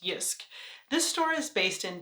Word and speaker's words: Jysk: a few items from was a store called yusk it looks like J but apparently is pronounced yusk this store is based in Denmark and has